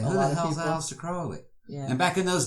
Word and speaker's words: Crowley: Crowley. Man, rhymes with holy. Rhymes with holy. Not Crowley, that's Fowley.